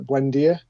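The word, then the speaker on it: Buendía: Like a lot of people, I'm looking at Buendia. Is that pronounced right?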